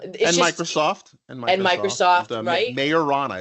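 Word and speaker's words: Majorana: in Germany um and Microsoft and Microsoft Microsoft mayorana it's pronounced mayorana apparently it's pronounced okay not not maera like like now majna is the thing you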